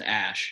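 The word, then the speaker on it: Æ: The AE is pronounced Ash.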